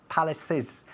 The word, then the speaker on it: palaces: Como acaba el sonido, es un sonido de S, aunque acaba realmente en CE, pero el sonido es S, hay que decir palaces, hay que pronunciar la ES al final. Palaces, como si fuese I latina S.